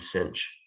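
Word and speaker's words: sinh: often i'm going to pronounce these caution and cinch that's sort of like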